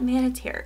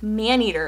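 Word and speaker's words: Maneater: oh my gosh BNA it's not manitar it's man eater and so I was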